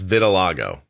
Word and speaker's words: vitiligo: and I have um I'm going to say it wrong I always do and my doctor laughs at me Vitiligo vitil Lago oh it's yeah it's vitil Lago I spent the last